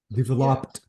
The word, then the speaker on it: developed: exactly developed developed developed ah that sound should be completely deleted developed okay so this is